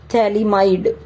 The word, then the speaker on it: phthalimide: is n alkyl thalamide ph is silent thalimide okay n alkyl thalamide